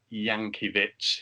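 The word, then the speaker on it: Jankewitz: card early on alexandra yankee bits is the pronunciation i'm going for on his on his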